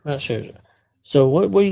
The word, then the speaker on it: Scherzer: I never can pronounce it. Sherza. Max Scherzer. Max Sherzer.